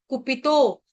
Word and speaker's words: कुपितो: कुपितो, त्रिस सप्त कृत्वक, कुपितो, कुपितो, कुपी, कु और पी दोनों ह्रस्व है, तो दीर्घ है आपका